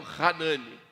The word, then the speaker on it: Hanani: Seria essa nossa pronúncia no hebraico, Hanane, tá? Então, a pronúncia aqui desse nome Hanane é seria o Hanani, né?